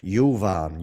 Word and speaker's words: Juvan: Yuvan. Yuvan. Caya. Yuvan. Just pronounce practice that pronunciation.